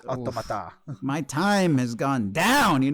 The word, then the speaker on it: Automata: Like it's Automata.